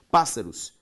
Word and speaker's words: pássaros: aqui proparoxítonas devidamente acentuada pássaros pa pássaros também antepenúltima proparoxítona todas são acentuadas pela